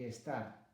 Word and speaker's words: est: Il est. Le S et le T ne se prononcent pas.